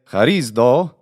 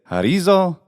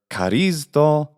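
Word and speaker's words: χαρίζω: So in short, don't say harizdo, say harizo, or carizdo, or we could do a Koine pronunciation, carizzo with a double z, something.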